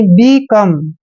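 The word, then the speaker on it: become: ऐसे clear next है बी ई देखिए बी ई का उच्चारण बी करते हैं और सी ओ को हम क पढ़ते हैं और ओ एम ई को अम पढ़ना है यानी बिकम बिकम बिकम मींस क्या होता है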